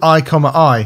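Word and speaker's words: i,i: It's called I, I.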